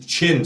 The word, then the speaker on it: Qin: first emperor of the King Dynasty was kin chin sorry it's spelled Qin so I keep doing that but it's the Chin Dynasty uh was the first